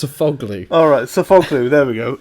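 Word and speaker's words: Sofuoğlu: Sofaloglu, is that how you say it? That is definitely not how you say it. You've put Sofaloglu. It's not sofa, it's just Sofoglu.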